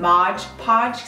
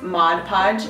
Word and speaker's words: Mod Podge: gonna need Mod Podge I keep seeing Mod Podge that makes more sense because it rhymes but it's not it's Mod Podge just like this I haven't